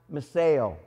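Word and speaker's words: μισέω: Well, in Greek, it's pronounced meseo.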